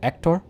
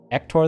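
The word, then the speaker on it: Héctor: for the Spanish lesson similar to French the H is silent unless it has a c or an S before arguably a t so the guy asking for a promotion just say his name as if without H so ector ector then uh okay let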